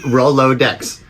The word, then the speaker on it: Rolodex: that you just use Rolodex yeah half the kids in our show bye-bye birdie three syllables yeah we roll low decks uh oh decks yes